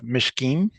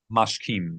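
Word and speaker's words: מַשְׁכִּים: So here we have Mishkim. Mashkim. Mashkim. Mashkim. Yes sir. And we know that it's mashkim because there's no dot and no vowel on the mashim le the bre.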